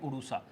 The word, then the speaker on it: उड़ूसा: एक गांव पड़ता है उड़ूसा। तो उड़ूसा गांव है, या उसको कई लोग प्रोनाउंसिएशन में उड़ीसा भी बोलते हैं, कोई उड़ूसा बोलते हैं, लोकल्स उसको उड़ूसा बोलते हैं।